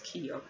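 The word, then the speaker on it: Kikyo: That's what I'm kind of pronouncing, but I hate pronouncing as Kiko. It's actually pronounced Kiko. It's K-I-K-Y-O.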